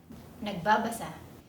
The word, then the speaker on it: nagbábasa: Be reading (nagbábasa) The stress is on the bá.